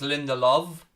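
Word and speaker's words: Lindelöf: to throw into united lindelof is pronounced with a v so it's linda love okay thank you for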